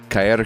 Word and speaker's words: Caer: Caer comes out the 27th, next Friday. Good pronunciation.